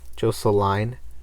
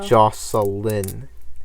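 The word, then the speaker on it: Jocelynn: we're broke dang it your real name is jose line no well that's very much not how it's pronounced oh jocelyn j o c e l y n n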